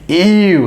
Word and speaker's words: eww: അതിൻ്റെ സ്പെല്ലിംഗ് ശ്രദ്ധിക്കുക, EWW. അതിൻ്റെ ഉച്ചാരണം EU.